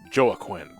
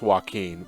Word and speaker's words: Joaquin: it on those Browns Joe a Quinn like phonetically that's how it looks like it's but it's how it's pronounced but it is pronounced Joaquin but in it that's